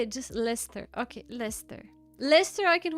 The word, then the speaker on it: Leicester: Why am I pronouncing it Leester?